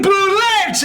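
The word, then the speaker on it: bulette: others that's my joke others who don't know how to pronounce anything call it a boule but that's entirely wrong oh no it's the feier some Predator the buring bullette and a huge blue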